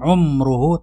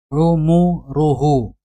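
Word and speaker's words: عُمُرُهُ: mom tola rumor uhu bacanya itu adalah pola umum ruhu berbaris lemah Bukan sukun Jadi bukan umroh tapi ummuhu ardzalil umur misalnya di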